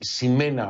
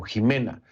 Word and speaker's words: Ximena: etiqueta numeral Conclu Ximena, pero es con X, Ximena o Jimena. Conclu Ximena, así lo pronunciamos en México al menos.